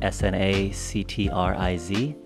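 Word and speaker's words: snactriz: It will be, but just the first letters of my last name. S-N, and then actriz. Actriz. There it is. That's what it is. In Spanish. Sanctriz.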